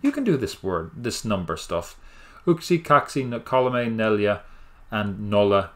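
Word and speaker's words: yksi: 1, don't mind what that looks like. It's pronounced uksi.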